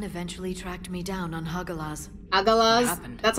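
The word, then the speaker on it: Hagalaz: The elusive man eventually tracked me down on hagalas that's how you pronounce that planet he was coming Faron and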